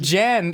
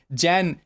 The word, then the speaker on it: Jan: Jan. He said it wrong. He's like Janeth. Janeth.